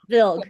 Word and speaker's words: Zil: Did I pronounce that right? Zil. Yep. Zil.